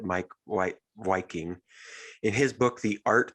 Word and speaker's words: Meik Wiking: Meik Wiking, so he spells his name Meik, but I think he's from the Netherlands or something like that. So he pronounces it Meik Wiking.